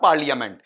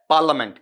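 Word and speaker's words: parliament: आता होगा ना पार्लियामेंट ये हिंदी में हमने इतना बिगाड़ कर दिया है इतना उच्चारण विकृत बना दिया कि पूछो मत दिस इज इ नॉट पार्लियामेंट ये क्या है पार्लिमेंट कभी आपका फनेटिक वाला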